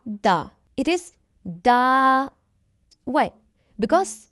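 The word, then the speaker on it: dağ: It is used after a vowel to make them sound longer.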